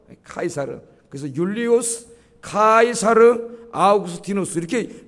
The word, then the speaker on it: 카이사르: 중간에가 이사라는 이름이 들어갑니다이 원래는 이게 케사르 시저 그죠 영어로는 저라고 읽어요 카이사르 그래서 율리우스 카이사르 아우구스티누스